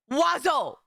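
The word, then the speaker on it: oiseaux: The plural of of of wazo it is pronounced wazo I okay and don't get me started on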